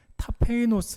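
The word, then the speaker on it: ταπεινός: 여러분 겸손히 과연 무엇입니까 겸손을 헬라어로 는 타 페이 노스 라고 발음을 하는데 가장 낮은 곳 아무것도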